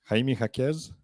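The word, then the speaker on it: Jaime Jaquez: it I was hoping for the UCLA NCAA champion did I say it right Jaime hakeez right on the money yeah but he went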